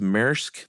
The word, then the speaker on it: Maersk: And I think uh is it pronounced Maersk, the big shipping company?